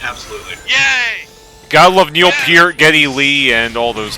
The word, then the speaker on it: Peart: Peart, not Part.